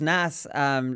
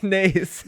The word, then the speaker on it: Naas: A little birdie told me that you pronounce Naas as Nas, Lee, here on one of the shows before, which is probably the worst pronunciation I've ever heard, which probably outdoes any terrible pronunciation I've ever done.